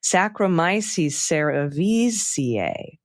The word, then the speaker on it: Saccharomyces cerevisiae: Saccharomyces cerevisiae is pronounced Saccharomyces cerevisiae. Visiae. Cerevisiae. And the Arabidopsis thaliana is pronounced Arabidopsis thaliana. Okay, I got it. Arabidopsis thaliana and Saccharomyces cerevisiae.